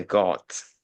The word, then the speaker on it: guards: Guards. Yeah. Okay. Yeah. The pronunciation guards. No need to pronounce the U.